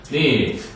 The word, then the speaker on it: knit: Knit. 왜? 얘가 묵음이니까. 그죠? 게다가 T가 하나 더 붙으니까. Knitting.